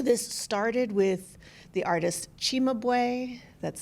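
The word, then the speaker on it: Cimabue: Um, so this started with the artist Chimabu, that's c I m- a bu just because Italian pronunciation is a little bit different, in the 13th century, and going up to his own day.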